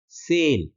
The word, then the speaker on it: sale: वो ये है कि जब हम SALE को प्रोनाउंस करेंगे तब हम बोलेंगे सेल, स का लंबा उच्चारण करना है, सेल।